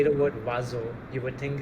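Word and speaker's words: oiseau: What you read is different from what you hear. For example, the word for bird, the word if I pronounce it is wazo.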